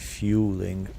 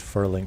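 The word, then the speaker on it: Fuling: Drogger and fueling. I I I kept pronouncing it furling for the longest time.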